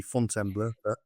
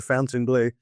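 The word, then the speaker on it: Fontainebleau: the fountain blue hotel which if Americans pronounce it properly would be font embl but they call it the fountain blue um and that's on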